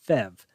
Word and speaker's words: PHEV: And because engineers love acronyms, it's called a PHEV, sometimes pronounced FEV.